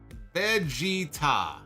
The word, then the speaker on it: Vegeta: no ah oh man he says Vegeta is pro is pronounced Vegeta okay Vegeta I feel